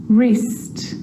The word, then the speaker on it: wrist: The letter W is silent when it's at the start of a word before the letter R, like wrong and wrist, and right or wrote. It's also not pronounced in these common words: who, whoever, whole, to, sword, and answer.